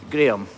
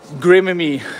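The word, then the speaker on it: Graeme: It's the Scottish spelling of Graham. Graham. Ugh. I get Graham-y a lot in America.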